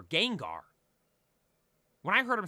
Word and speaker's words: Gengar: but speaking of pronunciations Wolfie says jenar for Gengar when I heard him